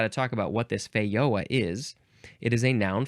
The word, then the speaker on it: Feijoa: It is pronounced either feioa or fehoa. And I guess I'm not entirely sure which one is probably more accurate. But anyway, it is spelled Feijoa. I suspect feioa might be more accurate because it is first.